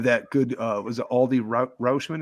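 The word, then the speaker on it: Adley Rutschman: good uh was it aldi roschmann is how you say his name adley rushman yeah you know they're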